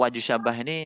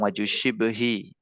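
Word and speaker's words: وجه الشبه: Untuk wajhus syabah ini banyak versi pengucapannya ya. Ada yang bilang wajhus syabahi, ada yang bilang wajhus syibhi.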